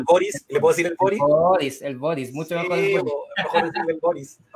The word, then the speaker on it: Boric: Es Boric. Ah, Boric. Es Boric, pero le pudiste decir Boric porque estaba en Chile, pues, güey. ¿Y le puedo decir el Boris? ¿Le puedo decir el Boric?